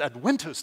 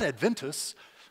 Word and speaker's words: adventus: I would never know that the V is pronounced as a W if my eighth grader weren't taking Latin. But he said, no, Dad, it's adventus, not adventus.